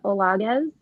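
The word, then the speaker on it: Olaguez: of all I want to make sure I'm pronouncing your last name correctly um my name is olz it's o l a g u e z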